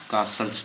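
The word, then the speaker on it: castles: ये क्या बन गया कासल्स बन गया ठीक है टी यहां पर साइलेंट है खामोश याद रखें ठीक है अब कासल्स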